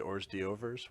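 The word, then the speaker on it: hors d'oeuvres: And if you don't agree that it's pronounced Ors d'Overs, well, too damn bad.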